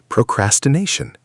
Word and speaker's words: procrastination: Procrastination. Stress on the fourth syllable.